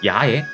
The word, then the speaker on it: 矢: 이 화살 시자는요 파생 어휘면이나 사용 빈도면에 보아서도 훈독인 야에 보다 집중하셔서 학습을 하셔야 되는 한자입니다. 그래서 훈독은 야 라고 읽고요.